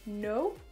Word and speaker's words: know: C'est le verbe know et c'est le mot now. Donc vous voyez, au niveau de l'orthographe, dans know, vous avez un K devant. Le K, il n'existe pas.